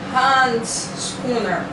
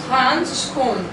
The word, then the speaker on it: handschoen: De handschooner. Nee. Handschoen. Handschoen. Muito so.